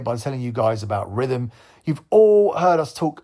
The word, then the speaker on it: Rithmm: Rhythm is spelled RITHMM. That's RITHMM.